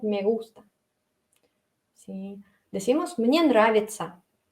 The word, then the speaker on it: нравится: Pero aún así todo eso se lee como ца, ца. Nравится, ца. Así se leen la TC.